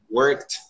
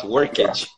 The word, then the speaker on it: worked: Like work, worked, not workage, or yeah, workage, right?